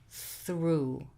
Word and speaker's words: through: oo, as in through, through. So O-U-G-H in the word through produces oo.